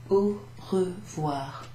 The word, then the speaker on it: au revoir: Au revoir, au revoir. And in that word you'll find this. Wa. Wa, that sound again. You see it all the time in French.